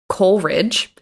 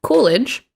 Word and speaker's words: Coolidge: mispronounced his name um i kept going back and forth between saying calvin coolidge and calvin coleridge the correct way to say it is calvin coolidge that's the president and